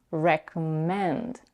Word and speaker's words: recommend: The word recommend has three syllables and the primary stress is on the third one, recommend.